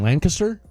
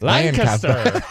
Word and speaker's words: Lancaster: Lancaster. Yeah. Just think of it like Lank. Aster. Like with a K instead of a C. Yeah, I think the C does. So it's like Lancaster.